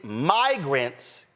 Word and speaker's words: migrants: Rich Lowry obviously got crossed up between immigrants short and my short I, y'all, look, he got crossed between immigrants short I and migrants long I, started mispronouncing migrants with short I, instantly corrected himself with no embarrassment because it was patently a mispronunciation.